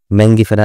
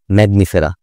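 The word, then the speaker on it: Mangifera: মনে রাখবা তারপরে আম ম্যাঙ্গিফেরা ইন্ডিকা নট ম্যাগনিফেরা ম্যাঙ্গিফেরা আম ইংরেজি কি ম্যাঙ্গো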